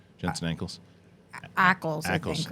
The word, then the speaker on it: Ackles: Jensen Ackles that's how you pronounce his name, right? Jensen Ackles. Ackles, I Ackles, think, right? not Yeah. ankles, and ankles.